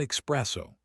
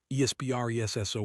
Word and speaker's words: espresso: Not espresso, espresso, espresso. There's no X in this word at all.